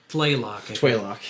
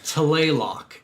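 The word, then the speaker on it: Tlaloc: No, Tlaylock, because it's TL. There's no Oh, W yeah, in you're there. right. It's Tlaylock. T-L-A-L-O-C. But I think they really don't pronounce that T. It's like Tlaylock. Like, it's really weird, but I'm going to call it Tlaylock. It's way easier to say.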